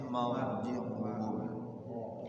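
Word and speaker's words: مرجعهم: Summa ilaina tabi'i marji'uhum ra-nya dibaca tafkhim ya, jangan tipis tapi marji'uhum.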